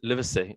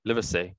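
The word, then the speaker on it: Livesay: behind mr lee lively live liver say liver say that's how you say it let me say but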